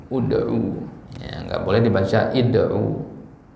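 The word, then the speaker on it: ادعوا: Misalkan ya, ud'u rabbakum tadarruan wa khufyah. Ud'u. Ya. Kenapa di sini dibaca u? Ya, karena ainnya ini harokatnya u juga.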